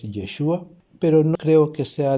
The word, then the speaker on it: Yeshua: Ya sé que hay personas que lo pronuncian diferente, que dicen Yeshua. Yo ahí veo una E, entonces para mí es Yeshua.